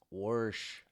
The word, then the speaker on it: wash: Yeah, because like, how do you just throw in a random R? It- I'm gonna wash these. Wash. I'm gonna WARRSHHER these.